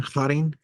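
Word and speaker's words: χαῖρε: you, um, Harin here, that would be the pronunciation, Harin, right? Isn't Kai the sound, which is so much fun, which you don't get to do in English. Harin.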